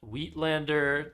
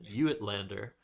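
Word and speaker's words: uitlander: Um just with the UI given that it's an Afrikaans word I believe. Uh but witlander definitely better than how I pronounce it, you at lander.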